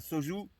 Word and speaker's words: soju: Et ça se prononce comme ça, soju.